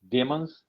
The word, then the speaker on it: demons: Uh, Demons. Demons, right? So MON, we Demons. pronounce it as De- man. Demons or demons? Demons. Demons. Okay, it is not demons. Yeah. Like demonstrate.